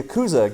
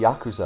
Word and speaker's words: Yakuza: And then the Yakuza get involved. The Yakuza, I believe, is the correct pronunciation.